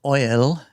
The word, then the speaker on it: Eull: So, Oil or L. Oil or L is like the German pronunciation.